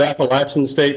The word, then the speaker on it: Appalachian: Undergrad at Appalachian State, I believe. Is that correct, Nathan? I would pronounce it Appalachian State, but that's correct.